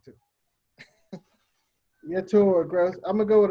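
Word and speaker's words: Yetur Gross-Matos: I'm going to go with AJ over Yarns Gross Matos. I said that wrong too. Yetur Gross.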